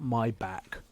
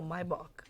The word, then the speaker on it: Maybach: Not my back. No, Maybach. Maybach. Maybach. Maybach. Okay. My Maybach. German. Like you got something in the back of your throat.